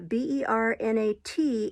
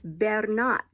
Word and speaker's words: Bernat: about a couple uh b-e-r-n-a-t is bernat bernat that's how it's pronounced um c-a-r-o-n is carron